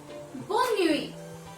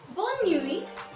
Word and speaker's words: bonne nuit: Then we have Bonne nuit, good night. Bonne nuit, good night.